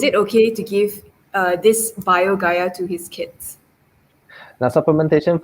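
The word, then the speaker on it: BioGaia: and okay so kenya replied he said it's pronounced as bio gaia it's a tablet for probiotics uh he gives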